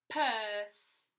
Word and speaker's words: purse: The last word we're going to write together is purse. Purse. Starts with p, purse. P, so write purse. What does it end with? Good. S, and again we have a silent E at the end, okay?